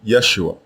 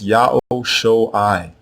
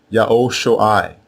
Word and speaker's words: Yeshua: Now the first version is not pronounced Yeshua. It is pronounced Yao-Shoai, Yao-Shoai, and it means Yao is salvation.